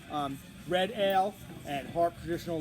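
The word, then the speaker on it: Smithwick's: those of you newbies out there it's not pronounced smithwicks and i'm sure 98 of you know that but uh don't go to a bar especially in irish bar and ask for a smithwicks it's called smitics smidx red ale and harp traditional lager both fantastic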